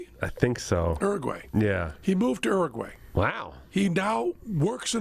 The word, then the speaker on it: Uruguay: He moved to Uruguay.